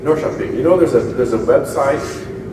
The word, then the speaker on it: Norrköping: It's pronounced Norrköping. Norrköping.